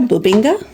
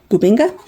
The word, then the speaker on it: bubinga: Bubinga. More boo than ba. Bubinga.